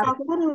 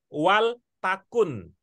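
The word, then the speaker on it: وَلْتَكُن: Waltakun minkum ummah. Waltakun minkum ummah. Ya, jadi cara membacanya adalah wal takun.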